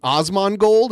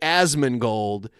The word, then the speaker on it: Asmongold: ever talked about Osman Osman gold is that how you say his name as I say it ason gold as it's an a not an O you're right asman gold you know years ago